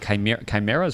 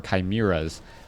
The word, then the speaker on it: chimeras: Or, all right, chimeras or chimeras. People have been telling me both are official ways to pronounce that particular word.